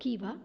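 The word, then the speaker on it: Khiva: खीवा नहीं, इट इज़ कीवा, pronunciation इसका कीवा होगा.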